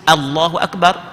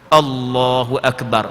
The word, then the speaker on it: Allahu Akbar: Perhati molek cuba perhati molek kadang-kadang tak sedar salah Allahu Akbar. Tak sedar sekarang. Bukan O, A.